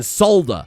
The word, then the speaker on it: solder: You motherfuckers need to start saying the L in solder.